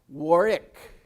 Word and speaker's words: Warwick: second w doesn't exist that second w is not pronounced and the a is pronounced like an o and it comes out warwick how do i know